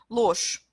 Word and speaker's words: ложь: « Ложь ». Ложь, да, mais ложь, oui, c'est aussi je qu'on prononce comme ch, mais il n'y a pas de deuxième consonne ici, comme dans le mot dosht.